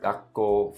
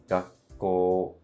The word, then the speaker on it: がっこう: Take the word gakko, for example. It's actually 4 moras. Even though it is 2 syllables, gakko, but it's 4 moras because it is ga, chisai tsu, ko, and u.